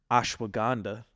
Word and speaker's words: ashwagandha: I'm going to say it right this time ashwagandha sorry for mispronouncing that last week There's turmeric you got